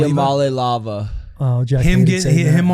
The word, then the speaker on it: Iamaleava: Iamaleava? Iamaleava.